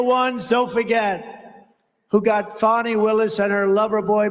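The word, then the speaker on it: Fani: been destroyed because of fonny f a n i fny you have to pronounce it fonnie it's called Fanny you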